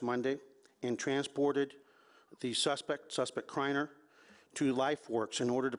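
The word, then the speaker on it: Criner: As a result of this, we've identified a suspect named Mikhail is the way he pronounces it, spelled M as in Mary, E-E-C-H-A-I-E-L. Last name of Kreiner, C-R-I-N-E-R.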